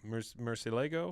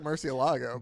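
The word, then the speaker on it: murciélago: Murcielago? It looks like Murcielago. but I know Therefore, that's a literal French. translation of Batman would be El Hombre Murcielago, the man bat.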